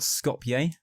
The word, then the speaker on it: Skopje: Its capital city is called Skopje, or I don't know how you pronounce it.